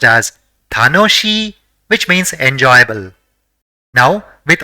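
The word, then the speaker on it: たのしい: So, it will be pronounced as tanoshi, which means enjoyable.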